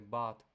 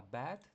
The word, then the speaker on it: bad: Ну і пам'ятаєте правила читання, що слово погано читаємо не бат, а бет. Тому що якщо а буква в нас е зажата між двома буквами, то вона читається не стільки, як а, а стільки як е. Тому скоріше бет.